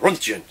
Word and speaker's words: Röntgen: That's how you say it. Röntgen. Röntgen. You got to say it really strong with like a beer in your hand.